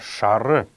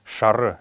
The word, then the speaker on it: шар: следующее слово это слово шары именно так оно произносится какие слова hours как шары это желтый однако в потоке речи часто можно услышать как говорят просто шар но норма его конечно это шара это желтый лан лан